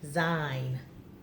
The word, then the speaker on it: sign: at this one b/g/n guess what the G is silent mm-hmm okay let's try this one you ready all right boys and girls let's get ready the G is silent the sign design mm-hmm yes all